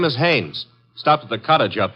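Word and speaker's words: Haines: Hines used to fish out no no not Hines Haynes couldn't be Huntingburg no it couldn't be the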